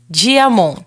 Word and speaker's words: Diamant: Se você gosta desse tipo de conteúdo, acessa o nosso canal no YouTube @gazetadopará GCash Diamon. Se escreve Diamant com T mudo no final no Instagram @gcashcortes.